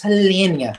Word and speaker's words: Hellenia: i'm like what's your name elena no it's hellenia oh my god i'm